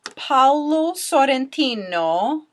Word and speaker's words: Paolo Sorrentino: It was directed by a man named Paolo Sorrentino. I totally pronounced that with an Italian accent, just practicing my Italian for my listeners.